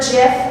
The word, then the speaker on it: GIF: go on, like I bring up the word GIF, which like, now that I think about it, might say something about the kind of dates that I'm going on, I guess.